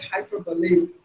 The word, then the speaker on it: hyperbole: But it's actually pronounced as hyperbole.